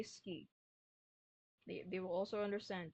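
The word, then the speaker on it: 好き: You don't have to say suki. You can just say ski.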